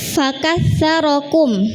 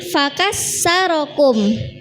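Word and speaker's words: فَكَثَّرَكُمْ: Kemudian fakarokum ya pakai tsa. Fakarokum pakai tsa tapi bacanya cepat-cepat jadi fakassarokum. Nah, sa jadi sa beda nggih. Meskipun samar-samar sama tapi ini mengubah makna. Fakatum artinya memperbanyak memperbanyak kalian. Tapi kalau fakassarakum memecahkan kalian.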